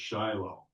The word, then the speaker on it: Shiloh: In Hebrew, it's actually Shilo. Yeah, it's time. But we don't the Hebrew the accent is often on the last syllable, but that doesn't work in English. So, we go with shilo, not and and if you're really an English speaker, it's Shiloh.